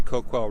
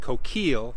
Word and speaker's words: Coquille: few that are left still refer to the river as the coke well River so the pronunciation of coke well is something that was still going on during pioneer days that changed over time as settlers moved into the area we're more familiar with